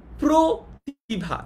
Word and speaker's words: প্রতিভা: যেমন একটা এক্সাম্পল দেখি, প্রতিভা। দেখো আমরা কিন্তু প্রতিভা বলি না, আমরা কি প্রতিভা বলি? আমরা যদি প্রতিভা বলতাম তাহলে অটা অয়ের মতো উচ্চারণ হতো এবং তখন এটা কিন্তু কি হতো, তখন এটা কিন্তু বিবৃত উচ্চারণ হতো। কিন্তু আমরা যেহেতু প্রতিভা বলি অর্থাৎ অটাকে ও এর মতো উচ্চারণ করি, এই কারণেই আমরা বুঝতে